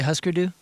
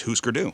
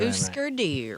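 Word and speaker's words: Hüsker Dü: He can't say Husker do. No, it's because it's Husker Du. Right. Husker Du.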